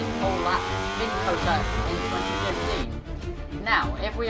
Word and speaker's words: COTA: So now, not Dakota. No, not Dakota. It's COTA, Circuit of the Americas, COTA.